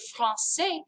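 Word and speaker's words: français: in the word francais because that c doesn't make a k sound in the word francais it has this idea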